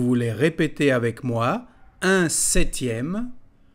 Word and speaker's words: septième: répéter avec moi un septième la lettre p ne se dit pas un septième puis nous avons un